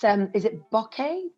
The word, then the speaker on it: bokeh: make like and i don't know how to pronounce it properly so sorry everybody it's um is it bokeh b-o-k-e-h would you use the bokeh would you use